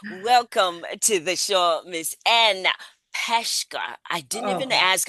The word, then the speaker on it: Anne Peshka: Welcome to the show, Miss Anne Peshka. I didn't even ask how we pronounce it.